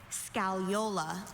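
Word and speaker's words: scagliola: Your word is scallola. Thanks, Mom. Uh, can I have all the information? Scalola has no alternate pronunciations.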